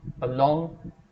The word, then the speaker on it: along: Along, A is not stressed, along.